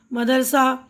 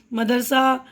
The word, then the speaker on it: مدرسہ: ان لفظوں کا آخری حرف ہا ہے. آخری حرف تو ہا ہے نا، لیکن اکثر ان کے تلفظ کے آخر میں آ کی آواز سنائی دیتی ہے، یعنی پروانہ، پردہ، مدرسہ، درجہ، ہفتہ، ٹھیک ہے نا. یہاں ہا کی آواز پوری طرح ادا نہیں کی جاتی.